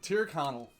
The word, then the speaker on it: Tyrconnell: So this is Triconel. I think I'm saying that now. Triconal? I'm not quite sure. I'll pronounce it. Yeah, I would love for you to pronounce it. Tyrconnell.